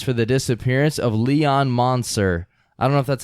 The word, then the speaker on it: Moncer: the disappearance of Leon monster I don't know if that's a pronounce it it's mo and CER so the disappearance of Leon